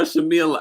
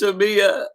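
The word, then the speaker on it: Shamea: Everyone's calling her Shamila. I can't stand Is it Shamila or Tyla? It's Shamia. Shamia.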